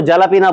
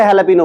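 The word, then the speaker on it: jalapeño: ई एन ओ और आप उसको जालापीना बोलो। चार लोग बुरा मानते हैं भाई। क्योंकि आज पब्लिक को पता है कि उसे हैपिनो बोलना है। मेक्सिको में लोग जय को साइलेंट रखते हैं।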